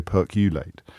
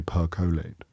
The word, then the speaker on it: percolate: keep telling me off I always say perate but it's actually percolate I'm going to let